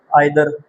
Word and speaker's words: either: बस लोग बोलते हैं नाइदर आइदर, बट अमेरिकन बोलते हैं नीदर और ईदर। ठीक है, ये करेक्ट प्रोनाउंसिएशन है इसका।